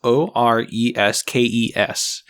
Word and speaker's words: Oreskes: Naomi I believe the last name is pronounced Oreskes. It's Oreskes.